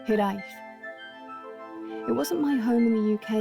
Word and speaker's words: hiraeth: It is pronounced hiraeth.